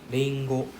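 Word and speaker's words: りんご: Lingo. Bingo. Remember, it's not R sound. It's L sound, right?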